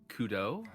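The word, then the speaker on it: Cudobh: my character uh is Kudo uh not spelled any way that you think it's going to be spelled but uh is how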